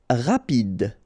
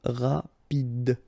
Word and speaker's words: rapide: Rapide. Final E not pronounced, so rapide.